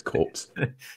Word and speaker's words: corps: I think I'm pretty sure it's pronounced corps, but we'll go. I actually know quite a lot about the English language, and it's corps.